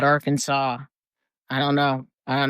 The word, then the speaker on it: Arkansas: Like Kansas and R Kansas aren't that far apart, but they call it Arkansas.